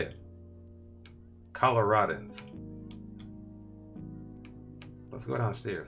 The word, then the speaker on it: Coloradans: It's Coloradans, right? That's how you say it. Coloradans.